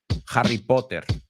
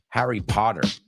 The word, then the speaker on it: Potter: Harry Potter. Now, they would say Harry Potter, as I've said many times here on the show. The British say the T. We say it like a D.